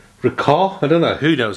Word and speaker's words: Ricoh: It's not Rico as in Reeds, it's Ricoh.